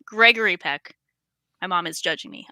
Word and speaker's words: Gregory Peck: If I think Gregory Peck, I said it wrong. Gregory Peck.